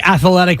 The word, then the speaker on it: athletic: stop it it's literally you gotta say athletic with three syllables that's my bad yeah